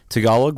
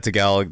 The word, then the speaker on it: Tagalog: It's funny when people talk about Tagalog, they always say, you speak Tagalog? I'm like, I've heard that a lot. Tagalog. Like, you got it like a horse, like, going through water.